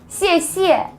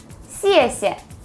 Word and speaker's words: 谢谢: A lot of people say 谢谢 like this. This is not correct. So try to emphasize the first syllable with the fourth tone, 谢谢, 谢谢.